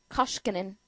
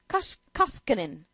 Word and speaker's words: Koskinen: Koskinen. Koskinen.